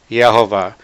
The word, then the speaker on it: Yehová: Agora que estabelecemos essa base, vamos ver que 10 rabinos que declararam em suas escrituras que a verdadeira pronúncia do nome é Yehová.